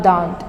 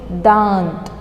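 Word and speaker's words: दाँत: It's not dant or dant. It is dant.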